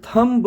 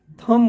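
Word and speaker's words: thumb: बी का combination है तो थंब नहीं थम बोलते हैं इस बात को ध्यान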